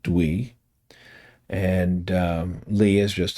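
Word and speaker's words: Tui: It's pronounced Dwee.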